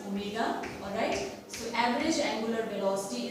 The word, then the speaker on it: omega: Average angular velocity is denoted by this letter W, looks like W but it is a Greek letter pronounced as omega, alright.